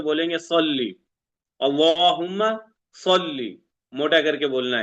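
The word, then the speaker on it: صلّ: गलत हो जाती है यहां पे जैसे लिखा है साद से क्या लिखा है सल्ली सल्ली मोटा करके बोलेंगे सल्ली अल्लाहुम्मा सल्ली मोटा करके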